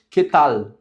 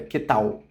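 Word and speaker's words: qué tal: E a pronúncia fica com o som de L no final. Quetal. Quetal fica l tal. Não fica queetal, como a gente falaria em português, com o som mais voltado pro u.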